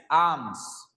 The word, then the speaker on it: alms: वो आर्म होती है यार, ARM आर्म, भुजा, ALMS आर्म्स, ल का साउंड आता है बीच में, आर्म्स, पर ल थोड़ा साइलेंट ही चलता है, तो इसमें भी